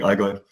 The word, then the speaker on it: Allgäu: So if you pronounce it in German, it's CuraMed, Akutklinik Allgäu, and yeah, that's my workplace.